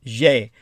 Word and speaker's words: xe: So the third gendered neuter or non-gendered z, pronounced je, is spelled xe.